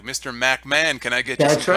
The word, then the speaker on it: McMahon: he can't pronounce Vince McMahon's name he doesn't say McMahon he'll go you know that mcmah guy mcmah he always say you know this mcmah guy you know he's got